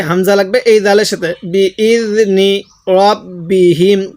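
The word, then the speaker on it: بِإِذْنِ رَبِّهِمْ: বিইজনি রব্বিহিম, কেউ র জবর রা পড়ব না, তাহলে বিইজনি রব্বিহিম। আরেকবার আমার সাথে পড়ুন, বিইজনি রব্বিহিম।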